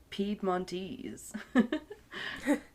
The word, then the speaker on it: Piedmontese: Venetian, or the I looked up how to pronounce it, Piedmontese.